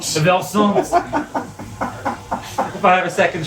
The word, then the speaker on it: Versant: They had 3 different branding consultants, and they came up with a new name, which is Versant.